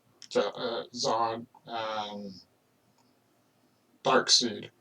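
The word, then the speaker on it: Darkseid: i have my own son so forth it's pronounced dark seed if you like her or not all right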